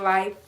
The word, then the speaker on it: LHF: And it's from the Vegan Life page, y'all. And it's vegan LHF pronounced life, y'all.